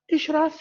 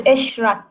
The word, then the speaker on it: Ishrat: Yeah, Ishraf, am I pronouncing your name right? Yes, hello, Professor. It's Ishrat.